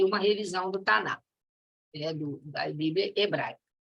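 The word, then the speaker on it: Tanakh: A Bíblia hebraica, ela é composta de 24 livros, chama-se Taná, né, conforme os judeus pronunciam.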